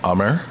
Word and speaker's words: Amar: And I am ummer, pronounced Hummer, like the SUV. Take the H off.